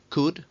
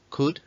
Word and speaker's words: could: Pero luego tendríamos el could, y repito, could, esta L no suena, could, que en un principio se utilizaría para el pasado.